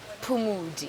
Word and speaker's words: Phumodi: Poo with O. No, Poo with U.